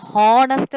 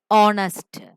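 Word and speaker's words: honest: ഓണസ്റ്റ് മാൻ, ഹോണസ്റ്റ് എന്നല്ല നമ്മൾ പറയുന്നത്, ഓണസ്റ്റ്. ആൻ ഓണസ്റ്റ് മാൻ, അതുകൊണ്ട് an. Okay, നെക്സ്റ്റ് an hour അല്ല, ആനാവർ, അവർ.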